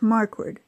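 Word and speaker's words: Marquardt: It's pronounced Markward. Not quite like it sounds, but I know people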